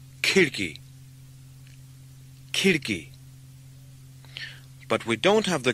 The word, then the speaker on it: खिड़की: The k sound at the beginning of khidki is like the English k in kitten, with plenty of air or aspiration. Khidki. Khidki.